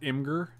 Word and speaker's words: Imgur: oh we got an imager link in the chat oh it's pronounced imgur you know anything about